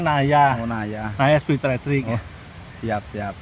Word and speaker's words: Naja: Cina mid in ini Naja bacanya Naya oh nay Naya spri